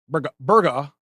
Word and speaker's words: Burgaw: she was in Burgaw now if you're a local you say it's you know people say Burgaw if your Local's just it's uh burger or as I like